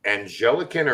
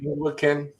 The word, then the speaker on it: Anglican: know do I pronounce is it an angelican or is it Anglican I always get in trouble for I say depends on where you are Anglican okay trouble I got